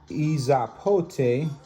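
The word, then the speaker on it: epazote: Izapote, pronounced Izapote.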